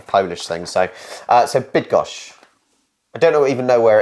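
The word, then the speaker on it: Bydgoszcz: would just um the the why would be more like an I so bid bid gosh I I according to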